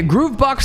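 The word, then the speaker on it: gruvbox: G R U V B O X is supposed Groove Box.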